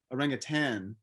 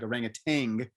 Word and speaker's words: orangutan: right in bahasa indonesian orangutan but people mispronounce it it's like orangutang yes i think it